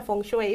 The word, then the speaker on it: Feng Shui: Pero el Feng Shui, en cambio, que realmente se pronuncia Feng Shui, pero todos le decimos es Feng cierto, Shui. es cierto, ¿sí? es Feng Shui.